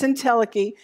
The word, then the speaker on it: entelechy: isn't that a cool I even looked up how to say it in case that chy you know but it's entelechy and that means that